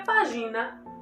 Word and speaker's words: página: Imaginem se nós não colocássemos o acento agudo aqui. Essa palavra ficaria página. Então, página. Olha a diferença. Página, página. Viu como a minha boca muda? A minha boca abre mais até para poder pronunciar esse A.